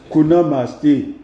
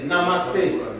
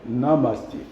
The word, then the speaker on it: Namaste: Kunamaste. Est-ce que j'ai bien prononcé? Il y a quand même l'accent, non? Namasté. Kunamaste. On t'entend parler, vas-y toi-même. Namasté. Namaste.